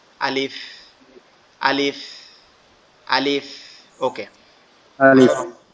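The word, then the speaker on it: ألف: এটা কিভাবে উচ্চারণ হবে, আমাদের এই নিচের ঠোঁটের দাঁত, এই নিচের দাঁত উপরের ঠোঁটের সাথে হালকা করে লাগবে, লেগে উচ্চারিত হবে আলিফ, আলিফ, আলিফ।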